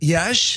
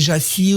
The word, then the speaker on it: Iași: Les Roumains disent Iași. Oui. En France, on dit Jassy ou Yassi.